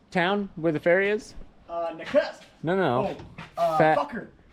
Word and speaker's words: Nakusp: How do you pronounce this town where the ferry is? Nakusp.